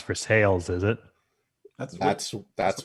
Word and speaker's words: Versailles: it's in versailles kentucky which is pronounced verse sales unlike the french versailles of course it is